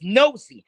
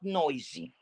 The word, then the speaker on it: nosy: nosy the word is nosy and I don't care what accent I have the word is nosy not noisy that's not how you pronounce the word and I heard so